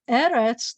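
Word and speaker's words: ארץ: And so eretz, the accent's on the first one, but when I want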